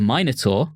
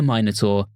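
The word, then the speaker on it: Minotaur: heroides and other sources the minor which I realize I'm pronouncing funny for our American listeners but I'm pronouncing it the British way I will not take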